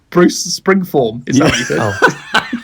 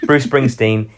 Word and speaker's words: Bruce Springsteen: album a bruce willis bruce say his name right what did i say bruce springform bruce springsteen he's in his he's in